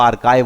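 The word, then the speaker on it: archive: तो ये आर्काइव नाम का जो फोल्डर है, बहुत लोग इसे आर्चिव बोलते हैं पर इसका शुद्ध उच्चारण दोस्तों आर्काइव बोलते हैं इसको।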